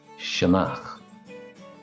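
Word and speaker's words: sionnach: I start with my favorite and that's Shaak shanak and again Shak the other term for Fox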